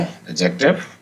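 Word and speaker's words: adjective: verb adverb फ इ एडजेक्टिव D silent है इसमें एडजेक्टिव जिसको हम विशेषण बोलते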